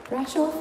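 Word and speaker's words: Brașov: Brasov, is that how you pronounce it?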